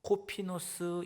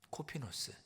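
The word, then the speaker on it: κόφινος: 자, 원어로 보면 바구니는 헬라어로 코피노스 이렇게 발음을 합니다. 코피노스.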